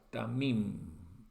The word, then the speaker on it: tamim: se traduce acá como perfecto, es la palabra tamim. Vamos a anotarlo, tamim. Pronunciación así con un resalto la pronunciación para que ustedes puedan darse cuenta que es T-A-M y M, ¿sí?